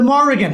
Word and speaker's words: Morrigan: know one possible reason for that is the Morrigan have you heard of the spelling m-o-r-r-i-g-a-n no